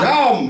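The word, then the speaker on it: שם: Sham, right? Sham. Sham. Sham. Hear that ah? If you don't hear the ah, then you ain't saying it right.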